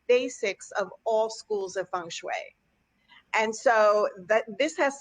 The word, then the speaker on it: feng shui: I say it right yes you did the Fung Shui is the way it's pronounced although you'll hear it pronounced different ways in you know in different countries yeah but here we say Fung Shui even though it's spelled f ing and people